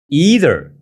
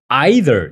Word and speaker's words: either: either a or B either 철자가인데 데라고 발음하는 원어민도 있고요 either 이렇게 발음하는 원어민도 있어요 오케이 자 그러면 오늘